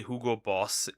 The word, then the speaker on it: Hugo Boss: How do you say Hugo Boss in German? It's literally Hugo Boss. That That's it. It's that simple.